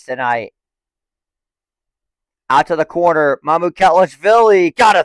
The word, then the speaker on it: Mamukelashvili: Mamukelashvili.